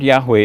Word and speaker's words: Yahweh: Bible in the Bible only the four consonants are mentioned why HWH and Scholars now fill it out to say that Yahweh is the best pronunciation now according to the